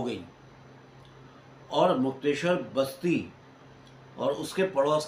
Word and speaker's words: मुक्तेश्वर: हुआ करती थी, और इसे मुक्तेश्वर नहीं कहते थे, मुक्तेसर कहते थे।